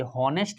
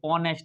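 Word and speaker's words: honest: है, ऑनेस्ट, ऑनेस्ट मैन, ये हॉनेस्ट मैन नहीं है, ये ऑनेस्ट मैन, तो इसका साउंड किस में जा रहा है, ओ में जा रहा है।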